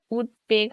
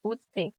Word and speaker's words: উদ্বেগ: থাকলে ব উচ্চারিত হয় যেমন উদ্বেগ এখানে উৎপেগ হবে কারণ এখানে বচ্চারিত হবে উৎপেগ বাংলা শব্দে ক এর